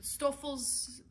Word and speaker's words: Stoffels: how to pronounce it i believe it's german and that is the best i can do because i'm an american i did not take german but stouffel's was the correct pronunciation from what i could find so i do apologize